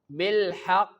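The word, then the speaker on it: بالحق: Bil haqq. Strong bounce at stop like bil haqq.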